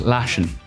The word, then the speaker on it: lashing: Whenever you see a word in Ireland that ends in ing, take the G off. We don't pronounce G's or TH's. So this would be just lashing.